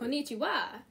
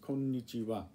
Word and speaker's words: konnichiwa: So it's not konnichiwa. Right, just konnichiwa.